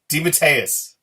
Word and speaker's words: DeMatteis: We're saying his name wrong again. We are. I'm never going to get used to that. DeMatteis.